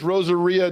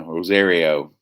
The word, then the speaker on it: Rosario: one well done actress rosaria dawson oh uh rosario rosario he put them fastest on the wrong syllables oh man what did